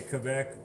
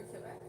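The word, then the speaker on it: Québec: The accent is on the E. For Quebec. For Quebec. Quebec! Like I said, I'm AT, which is French Canadian. I say Quebec, not Quebec.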